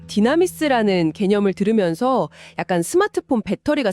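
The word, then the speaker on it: δύναμις: 네, 여기서 쓰인 능력이라는 단어가 헬라어로 디나미스입니다. 왠지 좀 익숙한 발음이지 않나요? 디나미스요? 약간 다이나마이트랑 비슷한 것 같은데요?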